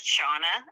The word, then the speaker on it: Shana: uncommon my name is shawna and it's spelled s-h-a-n-a which if you came from the gaelic countries ireland scotland wales they would say oh yes your name's spelled correctly but in america everybody looks at it shanna